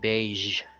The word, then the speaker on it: beige: next we have the beige so the last sound is a zh it's not a j sound but a zh sound beige then I included words